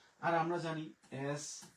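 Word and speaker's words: jaune: এরপরে আমরা জি এর উচ্চারণ নিলাম হচ্ছে বর্গীয় জ, আ ইউ এর উচ্চারণ নিলাম হচ্ছে ওকার, আর ন নিলাম হচ্ছে জন।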